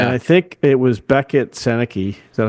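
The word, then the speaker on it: Beckett Sennecke: And I think it was Beckett Seneke. Is that how you say his name? Beckett Seneca.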